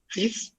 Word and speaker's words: six: Sish. Sish. It means six. Effectively you are pronouncing x here.